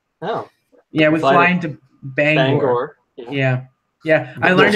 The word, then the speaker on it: Bangor: so many people say banger, which is just ridiculous because it's an O at the end, not an E.